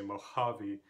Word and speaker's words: Mojave: Do you say Mojave or Mojave? No, you say Mojave, so the second syllable is the stressed one.